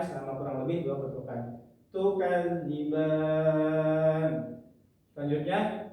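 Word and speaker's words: تُكَذِّبَانِ: Selanjutnya tukadziban. Di sini ada alif yang sebelumnya fathah tapi berada di akhir kalimat maka disebutnya adalah mad al fukun. Cara bacanya sama seperti mad thai. Dipanjangkan dua rakaat tukadziban.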